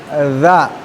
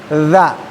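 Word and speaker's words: ذ: dan depan ada huruf dza. Huruf dza. Huruf yang secara makhraj pengucapannya adalah ujung lidah dikeluarkan dan digigit ya tidak terlalu banyak. Dza dza ya.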